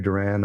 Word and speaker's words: Duran: dating myself as well it's like dur the band Duran Duran but that's a 80s